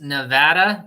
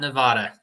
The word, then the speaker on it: Nevada: It's pronounced Nevada, not Nevada, just so you know.